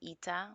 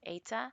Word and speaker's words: eta: This curly-looking N is actually called eta or ata. Not really sure I pronounce it, but I call it eta.